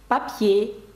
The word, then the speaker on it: papier: «Papier», «папір» на останній склад падає наголос. «Parasol», «парасолька» від сонця.